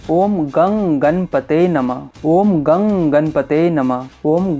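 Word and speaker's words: ॐ गं गणपतये नमः: किया जाता है इसी प्रकार किया जाता है ओम गन गणपतए नमः ओम गन गणपते नमः इसी तरह इस मंत्र का उच्चारण किया जाता है इसी तरह आप लोगों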